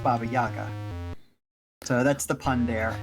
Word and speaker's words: Baba Yaga: that preceded VGA yeah but it would be pronounced Baba Yaga so that's the pun